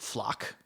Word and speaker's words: FLoC: system called floc or I'm going to pronounce it flock because I think that's what they want us to do it's an embarrassing